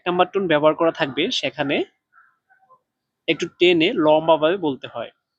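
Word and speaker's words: 上: তারপরে দেখেন সাং, এর উপরে এখানে চাইনিজের 4 নাম্বার টোন ব্যবহার করা হয়েছে। 4 নাম্বার টোন উচ্চারণ করার নিয়ম হচ্ছে জোরে নিচে, মানে এটা জোরে একটু দ্রুতভাবে ডাইরেক্ট নিচের দিকে পড়বে। তাহলে এটার উচ্চারণ হবে এভাবে সাং, সাং।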